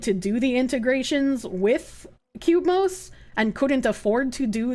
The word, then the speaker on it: Cubemos: Cubemos, it's Cubemos, spelled like that.